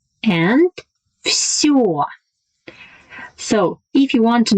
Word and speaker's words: всё: And всё, всё. In the last word всё, my lips are rounded and protruded.